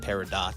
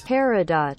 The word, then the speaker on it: peridot: Peridot. Is it peridot? You don't pronounce the T. It's not peridot. Peridot.